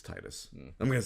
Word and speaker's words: Tidus: you know, because she's not going to know Tidus, which I have now learned is the pronunciation of his name. But it's Titus.